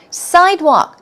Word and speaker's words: sidewalk: hidden gem as well sidewalk the stress goes on the first syllable a sidewalk is also